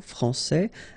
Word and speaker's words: français: Okay, so français here, you get this final S that you don't pronounce, so français, and then when you put this final E here, you will get française.